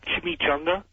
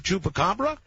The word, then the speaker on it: chupacabra: I'd like to talk about that uh Chim Chunga. You mean Chupa? Chup chupacabra.